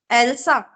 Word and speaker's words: Elsa: pronouncing it correct? Elsa. Yeah, you are pronouncing right, Elsa.